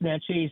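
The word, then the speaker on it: Naches: Yeah, you mentioned Natis earlier. I just in central Washington the river over there. So I driving me crazy. Um yeah, pronounced Natis.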